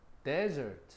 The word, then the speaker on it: desert: 그러면 사막 또는 디저트 후식 지금 보는 것처럼 desert 강세가 앞에가 있지.